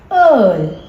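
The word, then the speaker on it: Öl: das earl. Das earl. All නෙමෙයි.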